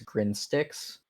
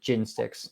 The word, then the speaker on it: Gin Styx: It's Grin Styx. Grand sticks. Grin Styx. Or I'm sorry, Gin Styx. Gin. He Gyn. drinks gin and listens Gin. to Styx. Yes. Exactly. It is spelled like Styx, as like the river Styx.